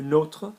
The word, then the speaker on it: nôtre: There's an accent on the O. So you're almost saying it the way, with all due respect, a lot of Americans pronounce Notre Dame. Yeah, notre. So that's how you say our one. Le nôtre, not notre.